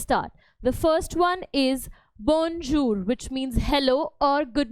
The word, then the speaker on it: bonjour: French today let's start the first one is bonjour which means hello or good morning repeat the pronunciation after me to Ace it okay bonjur which means hello or good morning the next